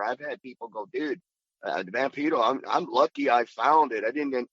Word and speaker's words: Vampiro: And then the other thing was when Vampiro came out, or as the correct way to say it, Vampiro, so when Vampiro came